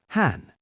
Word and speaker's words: hän: Han and is is on.